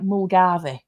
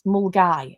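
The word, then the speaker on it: Milngavie: If you say it like it's spelt, it looks like Mulgarvey. It's Mulgai, I think is how you pronounce it.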